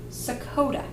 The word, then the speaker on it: sakota: way I say it it rhymes with Dakota like nor North Dakota or South Dakota that may not be the right way to say it though it kind of sounds like a state but it's not a